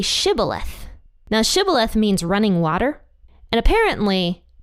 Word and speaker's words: Shibboleth: said to him now say sh ith now shth means running water and apparently the ephraimites pronounced it differently they couldn't pronounce that word